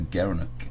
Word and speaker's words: gerenuk: gara gara gara NOK he pronounced as a gerenuk the gerenuk yeah you